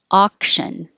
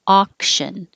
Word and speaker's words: auction: Auction, ah is the vowel ah. Auction.